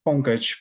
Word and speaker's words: Pankaj: And how do I pronounce that? Pankaj? Yeah, it's Pankaj.